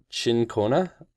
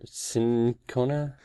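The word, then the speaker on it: cinchona: person listed as uh I think it's pronounced chin Kona or sin Kona I think you're right about the first one shinkona sounds about right to me which is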